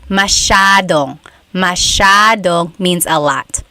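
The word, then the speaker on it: masyadong: Elijah said, "How do you pronounce mashadong?" Mashadong means a lot. So the s y a is a sha sound.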